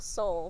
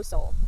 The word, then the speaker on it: Seoul: this list is Rebel Soul by axio and soul is spelled like the the place so s e o u l Soul this is a book